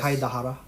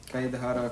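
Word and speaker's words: Kaedehara: But yeah, so getting back to Kazuha Kaidehara or Yes. Kaidahara. Kaidahara Kazuha. Yeah. Well, like Japanese pronunciation.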